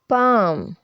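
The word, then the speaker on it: palm: learn बल बल bell L अक्षर एफ के और एम से पहले अपनी आवाज खो देता है जैसे कि काफ कफ हाफ हाफ वक वक टॉक टॉक कम कम कम Fock बाम बाम बाम पाम पाम पाम तो अब बारी आती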